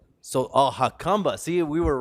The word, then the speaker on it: Jacumba: this place here what's the name so oh hakamba see we were wrong we said jacumba so yeah some folks would pronounce it jacumba some just call it huck combo from what i've heard it's actually pronounced hakumba you are the bartender you're what else do